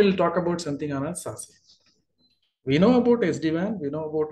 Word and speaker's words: SASE: SASE, they say SASE, pronounced as SASE.